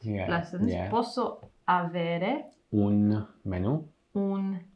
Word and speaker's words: menù: Posso avere Un menù. un menu. So the word for menu is actually the same. Menu. It's just pronounced differently.